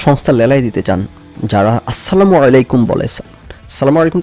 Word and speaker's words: আসসালামু আলাইকুম: এই কারণে হাসাহাসি করতো, সবাই বলে সালামু আলাইকুম, আমি বলতাম আসসালামু আলাইকুম, ছোটোবেলা থেকে আমার বাবা মা আমাকে এভাবে শিখেছে শুদ্ধ উচ্চারণে বলা।